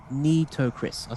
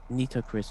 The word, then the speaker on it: Nitocris: All right, Nitocris. So I actually am pronouncing it right. Or Nitocris with song E sounds like the word need.